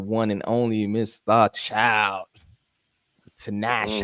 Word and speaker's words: Tinashe: Tinashe. How you say her name? Tinashe.